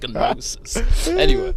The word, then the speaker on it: gnosis: That's led you to noses. It's a silent G, but I pronounce the G because it just sounds gnosis. Anyway, but what was I saying?